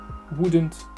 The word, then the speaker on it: wouldn't: Wouldn't, on prononce pas le L, je vous rappelle.